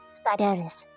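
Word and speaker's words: Spydris: it's be you that's all I ask spideris spelled s p y d r i s but pronounced like spy and little spy AIS double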